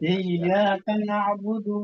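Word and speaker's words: إِيَّاكَ نَعْبُدُ: Jangan sampai iya kana budu wa iya budu wa iya. Ya, jadi masih ada kesan panjangnya walaupun memang karena di awal dulu memang saya ingat itu panjang, dibacanya panjang. Ya. Jangan sampai balik lagi gitu.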